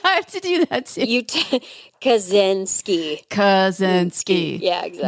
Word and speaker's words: Kaczynski: I'm not mathing it, but so Theodore John Kaczynski, and that's how I want to it's- say Krasinski, I know, too.